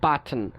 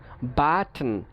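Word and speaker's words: button: আমরা কিছু কিছু ক্ষেত্রে আমরা দেখা যায় আমরা কি করি বাদ না দিয়েও আমরা উচ্চারণ করতে পারি. যেমন দেখেন বাটন, বাটন, টান, বাটন, এখানে আমরা কিন্তু আমরা কি করছি না ঠোঁটাকে বাদ দিচ্ছি না.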